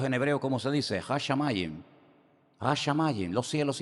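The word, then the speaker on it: השמים: Hashamayin.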